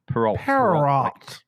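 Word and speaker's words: Perrault: Peralt. A U L T. Like vault. Vault. So Peralt. Yes. Peralt.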